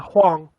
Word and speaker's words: Hwang: I don't know how to pronounce his name. Huang? Yeah. Hwang. Oh, then it's Huang. Is Huang? Okay. Yeah, Huang.